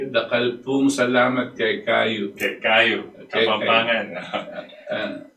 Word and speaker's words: Dakal pong salamat: Dakal pong salamat kay kayo.